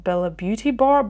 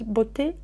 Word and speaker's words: Beauté: Everybody is always calling them Bellabeautebar, but it says Beauté. Beauté. I don't know how they themselves pronounce it. Maybe they don't pronounce Bella because I'm thinking of Italian, but maybe they're thinking of Spanish.